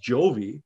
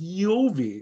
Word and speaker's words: Jovi: with a Latin tongue, it's not pronounced Jovi. It's pronounced Yovi or Yahweh.